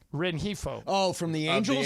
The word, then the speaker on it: Rengifo: Christian Oliveira, Luis, how do you pronounce that last name, Markham? Rengifo. Rengifo.